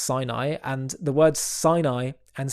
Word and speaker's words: Sinai: Hebrew is Sina and the word for Mount Si is is pronounced Sinai and the words Sinai